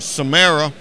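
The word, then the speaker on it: CMSARRA: this CMS 8rr a we pronounce it samara dmsa are a central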